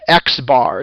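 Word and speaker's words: x̄: with the line above it that is called x-bar it's actually pronounced x-bar and that is how we say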